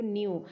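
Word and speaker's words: knew: एनई डब्लू न्यू जानना उसमें के साइलेंट है उसमें आवाज न्यू की ही लगती है सो हम नीचे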